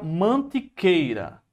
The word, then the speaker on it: Mantiqueira: Aí você pegou aqui, ó, a palavra mantiqueira. Mantiqueira. Veja que aqui forma um ditongo, ó. Mantiqueira. Não é mantiqueira, a pronúncia é mantiqueira. É mantiqueira. Ó, é tudo junto.